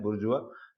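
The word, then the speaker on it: bourgeois: जैसे बुर्जुआ, इसका प्रोनाउंसिएशन अलग है, बुर्जुआ।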